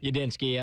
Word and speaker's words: Udinski: I believe Grant I don't know how to pronounce this dude's name but the Jaguars OC Grant Udinski Ydinski Y all right there you go but